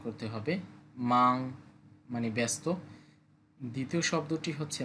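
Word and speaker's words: 吗: মাং মানে ব্যস্ত। দ্বিতীয় শব্দটি হচ্ছে মা। এটা আমরা আগেও পড়েছি। এটা দ্বারা কোশ্চেন বুঝায় বা কি অর্থ প্রকাশ করে। মা নিউট্রালটন। নরমাল বলব। পরের শব্দ পাপা।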